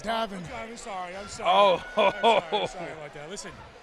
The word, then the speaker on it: Davin: I'm telling you, Gavin, you are fired up, man. Hey, Glenny. But you got my name wrong. It's Davin.